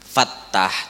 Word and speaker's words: Fattah: Jadi bacanya tadi ya Fattah kayak itu. Fattah, tanya batasydid dan tanya itu pakai mat panjang. Fattah. Ya Fattah 71. Jangan manca-ancap membaca luput. Ya patah, ya patah, ya patah, ya patah.